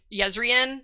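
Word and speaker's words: Jezrien: with a J their their name is pronounced like a y like yezen starts with a J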